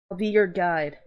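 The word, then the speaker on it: Ahlbi Ur'gaid: How uh I'll be your guide. Oh, is that how you say his name? I'll be your guide.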